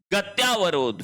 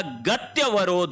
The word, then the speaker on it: गत्यवरोध: गति धन अवरोध शब्द हो जाएगा गत्यवरोध होगा। शब्द क्या बनेगा? गत्यवरोध। गत्यावरोध गलत शब्द है।